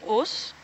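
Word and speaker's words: Ngchus: It's called Us. Us? You're gonna have to say how it's spelled.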